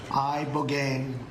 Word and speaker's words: ibogaine: In 2024 study from Stanford University, 30 special operation veterans with traumatic brain injuries underwent, it's called ibogaine treatment. Ibogaine. Remember the name. Is that pronounced relatively properly, would you say?